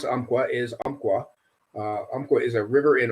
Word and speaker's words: Umpqua: Umpqua is what? Okay. I saw your question on Instagram the other day. The way you pronounce Umpqua is Umpqua.